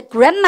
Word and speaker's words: grammar: 근데 그래머 할 때 영어는 쌤이 제목을 잘 읽는 거 되게 중요시하거든요. 근데 그래머 그러시면 안 돼요. 영어는 M이 두 개가 겹치면 발음은 하나만 하셔야 됩니다.